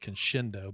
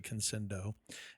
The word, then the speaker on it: Conscendo: it conscendo conscendo uh I think I was pronouncing it Kendo but it's actually conscendo and and uh yeah